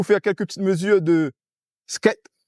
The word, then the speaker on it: scat: Comment on dit ? Skat. Voilà. Skat. Le skate c'est le autre chose. Voilà. C'est le c'est la planche à roulette donc de Scat.